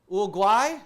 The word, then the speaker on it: Uruguay: out of the United States now Brazil and Uruguay that's how you say it okay that what